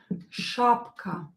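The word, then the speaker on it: шапка: another example with sha shopka shopka again shock have to has to really be pronounced deeper shopka shopka is a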